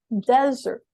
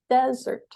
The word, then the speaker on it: desert: Now, this is very tricky because the word desert and dessert are almost the same, but dessert has two S's and it's stressed on the second syllable. So we say dessert, dessert, whereas number one is desert, desert.